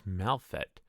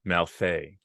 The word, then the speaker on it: Malfet: So is it pronounced Malfet or is it pronounced Malfet? I tend to anglicize it as I am an Anglo speaker, but the name comes